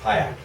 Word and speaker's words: Hayek: "Dear God, invisible hand, or spirit of Friedrich Hayek," is that how you pronounce his name? He's one of Thatcher's guiding lights. Hayek, yeah.